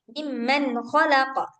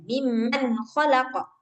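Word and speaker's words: مِمَّنْ خَلَقَ: Nah, jangan didengungin di sininya, Mbak ini. Mimman khalaqa. Terus aja dia bacanya. Mimman khalaqa. Langsung, cepat-cepat.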